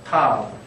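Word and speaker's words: ת: 그래서 어떤 분들은 타우라고 이야기도 하고 타브라고 이야기도 합니다. 우리는 바브를 비읍으로 음력하기로 했기 때문에 타브로 하겠습니다. 타브.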